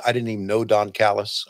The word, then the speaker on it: Callis: didn't even know Don Callis. I called him Don Calais. Yes. I didn't even know Chris Hero. And now I consider Chris Hero and Don Callis two of my good friends in wrestling.